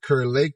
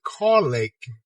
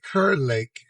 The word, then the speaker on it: Kerr Lake: uh I pronounce it kurur Lake because it's k r r i was told some people pronounce it car Lake but I'm saying Kur Lake uh I think it's